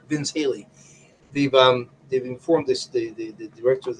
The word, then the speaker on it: Vince Haley: Halligan, in Roosevelt, and Vince Howley has to have sorry, I'm mispronouncing his name. Is Vince Haley?